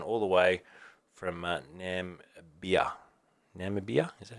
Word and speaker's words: Namibia: says watching Tyson all the way from uh name beer Namibia is that how you pronounce it so there you go it is who someone pronounce it for me Namibia Namibia that's probably 100 right so there you